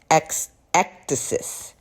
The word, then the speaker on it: ecdysis: And I believe it's pronounced ectasis.